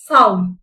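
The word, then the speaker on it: sow: இந்த வார்த்தைய நம்ம சவ் அப்படின்னு வாசிப்போம், இந்த வார்த்தைய சோ அப்படின்னு வாசிக்கணும். ரெண்டு வார்த்தைகளோட ஸ்பெல்லிங்கும் ஒரே மாதிரி இருக்கும், ஆனா அதோட உச்சரிப்பும் அதோட அர்த்தமும் டிஃபரெண்டா இருக்கும்.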